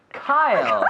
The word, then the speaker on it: Kyle: Kyle. Kyle. It's a difficult name. Say Kyle. it again. It's okay. a difficult Kyle. name to pronounce. It's like Kylie Minogue, almost.